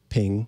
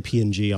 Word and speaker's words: PNG: creator of the format has how do you pronounce ping ping okay or sometimes i'll say png honestly oh see but i don't know i